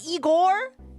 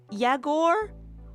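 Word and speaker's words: Yegor: いいやつでしょ？ほらほら。It's not Igor? It's Yagor? What? It's not Igor, it's not Igor, it's Yagor.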